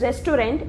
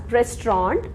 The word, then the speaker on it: restaurant: Usually people call it as restaurant, but it is not pronounced as restaurant, it is pronounced as restaurant.